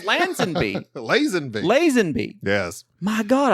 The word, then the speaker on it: Lazenby: Isn't that like Lazenby? I think it's Lazenby. Lansbury? That's Angela's husband. It was. He You're was the one right. order- It's Lazenby.